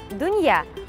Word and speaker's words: дунья: Мир – дунья, произносится мягко.